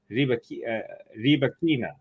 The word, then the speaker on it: Rybakina: I've heard people say Rybakina, and I've heard people say Rybakina, but she says Rybakina. So that's like two different pronunciations.